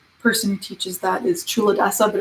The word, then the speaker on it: Culadasa: name of the person who teaches that is true Odesa but it's spelled c UL a das I just grabbed